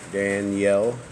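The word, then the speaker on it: Dani'ĕl: let's make it happen Danielle battle comma yeah let's just delicious establish us Danielle is spelled I apostrophe funky e-l right okay that's what we'll say just say Daniel will read past that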